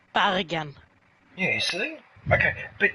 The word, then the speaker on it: Bergen: I say it in the English way because it's not Bergen, it's Bergen. Yeah, you see? Okay, but if it's a change in pronunciation, I can understand getting that wrong.